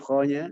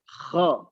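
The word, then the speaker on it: خ: Ya, sudah bagus bacaannya, tinggal huruf dikuatkan huruf kho-nya, Bunda. Contoh, saya contohkan. Min syarril waswasil kho. Kho. Nah, pengucapannya harus jelas. Tidak khon, tidak kha, tapi kho. Kho. Kita mendengarnya seperti huruf O memang. Kho-nya. Tetapi ingat, tidak monyong mulutnya.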